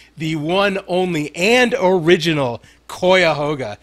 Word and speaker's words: Cuyahoga: one only and original Koya hoga it's pronounced like that cuyahoga is a place I oh that's [